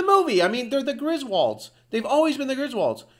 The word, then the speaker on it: Griswold: The Griswolds, that word is pronounced Griswold. Like you hold something, H-O-L-D, hold. Well, W-O-L-D would be wold.